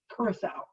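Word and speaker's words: curaçao: alcohol okay so there's our introduction to orange curacao and yes that's how you say it from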